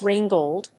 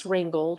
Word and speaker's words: Rheingold: yes rain gold gas wrangled pronunciation the rhinegold wwv 86a is the first